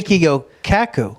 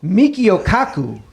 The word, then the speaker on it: Michio Kaku: next yes yes yes I don't want to pronounce Michio Kaku said these parallel universes are not wholly Keigo Kaku Michio Kaku thank you it's a set does he play